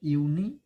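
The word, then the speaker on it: university: यूनिवर्सिटी होता है, देखिए इसे बहुत से बच्चे गलत प्रोनाउंसिएशन करते हैं, यूनिवर्सिटी। देखिए इसको प्रोनाउंसिएशन देखिए, यूनिवर्सिटी, यूनिवर्सिटी।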